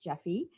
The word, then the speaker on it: Jeffe: So maybe she'll talk, So something I learned about Jeffe Kennedy, first of all, her name is pronounced Jeffe.